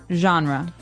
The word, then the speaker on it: genre: We say genre. Genre. Word. Genre. This kind of sounds French.